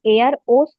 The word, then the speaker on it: Eros: एरोस का उच्चारण एयर ओस होता है, जिसे हम रोमांटिक प्रेम कहते हैं।